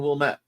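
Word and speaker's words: Wilmette: wmet river you know wamt and wilmet wamt is out west wilmet is in Chicago and you do not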